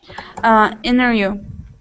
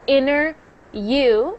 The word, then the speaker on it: interview: Interview. Is that okay? No, that's not, because you said inner you instead of interview.